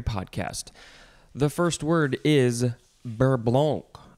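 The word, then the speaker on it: beurre blanc: the first word is berblonk i don't think you should say the c sound at the end it is spelled b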